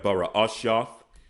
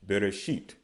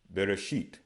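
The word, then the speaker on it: בראשית: Okay, so we have Bara'ashyath. Okay, now the pronunciation, the Masoretic pronunciation would be Bereshit. Bereshit. Okay, some of you may have come across that pronunciation, may have heard that pronunciation.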